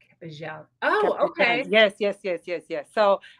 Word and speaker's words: Capella: So correctly is Capejan. Capejan. Capejan. So you will pronounce it like if the two L's were a J. Capejan.